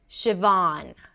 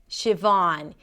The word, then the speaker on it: Siobhan: Siobhan. Siobhan. You start with she like ship.